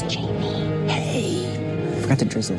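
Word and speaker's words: Jaime: All right, thank you very much, Jane. Jane. Customer Jane. It's Jamie.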